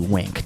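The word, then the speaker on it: WINC: And so I'll tell you what, and by the way, we're calling it Wink, and you're thinking like, oh, ding, I know how to do that. But actually it's spelled W-I-N-C, Wink, W-I-N-C.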